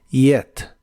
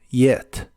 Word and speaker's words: yet: final de ideas negativas la y del principio no es el sonido J sino que es como una I suave yet yet y usaremos la palabra